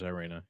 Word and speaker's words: Iryna: Her name's Iryna, yeah.